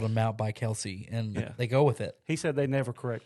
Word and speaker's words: Kelce: Hill and some other you do not pronounce their name Kelsey Travis Kelce Jason Kelsey that's that's not their name it's Kels is it really m